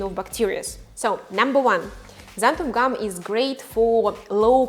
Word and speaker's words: xanthan: more in the future xanthan gum pronounced with z not x and why i don't